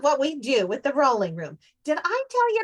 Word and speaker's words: Rowling: Rowling room. Lucy, it's pronounced rolling.